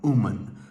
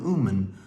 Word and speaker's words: Uman: keep their eye on umen so on the map you would look at it it is spelled u m a n keep your eye on umen there is a big